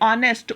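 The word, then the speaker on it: honest: अब यहाँ पे here H is also silent. मैंने अब रिटन दिस वर्ड हियर. ठीक है, बट साउंड किसकी आ रही है? ऑनेस्ट, ओ की साउंड आ रही है, सो दिस अ ये हमारा इनकरेक्ट है.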